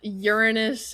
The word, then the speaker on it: Uranus: are they interchangeable pronunciations I guess but Uranus is the actual pronunciation yes that sounds like the the Gen Z No, I'm just kidding.